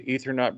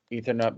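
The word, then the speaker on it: Aethernaut: Down here on the bottom, it's AB, Ethernaut Brotherhood, because it's spelled AETH.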